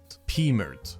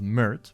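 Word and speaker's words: Pmurt: back upwards is pmert which rhymes with hurt and that Trump would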